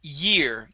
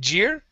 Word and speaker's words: year: and last word is the word year instead of jeer okay this is nine-year-old